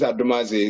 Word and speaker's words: Adomadzi: The spelling is quite unusual to many people, but they know how to pronounce it. My name is Adomadzi.